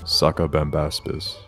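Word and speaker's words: Sacabambaspis: Could you just spell it out? S-A-C-A B-A-M-B-A-S-P-I-S. Sucka Bambaspis.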